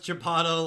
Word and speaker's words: Chipotle: Pronounce Chipotle like you would Aristotle.